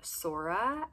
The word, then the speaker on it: Sora: The next name I have for you on my boys list is the name Sora, S-O-R-A, meaning sky, which seems like such a fitting meaning because the name obviously sounds like soar, and I think of